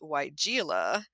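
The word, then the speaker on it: Weigela: always stumbles over and it's white gila it is not i just happened to flip over to that one and that is the one that i hear mangled so many times and i'm sure i've mangled it innumerable times but the spelling uh if you're not familiar with that out there is w e i g e l a and they have phonetically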